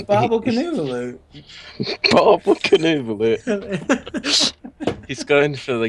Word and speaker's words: Boblekonvolutt: Apparently, I butchered Boblekonvolutt's name.